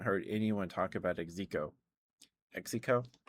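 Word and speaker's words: Xeko: Exico. Exo. It's spelled X E KO, I think.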